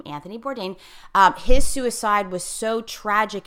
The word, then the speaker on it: Anthony Bourdain: somehow this was very very significant in that Anthony Bourdain I think that's how you pronounce his name Anthony Bourdain his suicide was so tragic and touched so